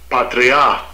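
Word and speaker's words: πατριά: Let me get the correct pronunciation. Strong's G3965, Patria.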